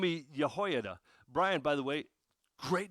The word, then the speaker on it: Jehoiada: on with a man by the name of yahho Brian by the way great job pronouncing it um so uh by as I